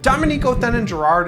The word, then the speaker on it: Dominique Othénin-Girard: Dominique Othénin-Girard is the correct pronunciation, and despite the fact that my last name is, I'm not actually from France.